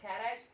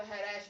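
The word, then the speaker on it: Kharasch: खैराश के is silent, तो हैराश बोलेंगे, ठीक है?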